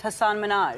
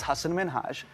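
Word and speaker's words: Hasan Minhaj: Is because everyone that says your name says Hassan Minaj. Yeah. But the real way you pronounce it, and this is a big deal cuz my parents are here. It's Hassan Minhaj.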